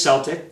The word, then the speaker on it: Celtic: So I thought it was Celtic, but you know, we were taught this. I'm teaching my kids that if there's an E after a C, it's a soft C.